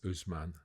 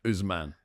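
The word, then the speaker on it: Ousmane: And in France, the one who I suspect might win it is Manet Dell. There's no Man, it's Usman. Usman.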